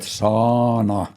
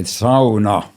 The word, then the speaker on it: sauna: So how do you pronounce word sauna here? Sauna. Sauna. Ah, Americans call it sauna. yes. Sauna. So what do you guys think? Is it sauna or sauna? We always say sauna.